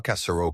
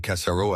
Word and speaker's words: Cassaro: Il ne dit pas Cassaro comme un américain. Il dit Cassaro avec un léger accent sur la première syllabe. Et le R était roulé mais doucemente.